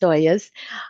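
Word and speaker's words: ollas: So, um, oyas um, o l ls is pronounced oyas.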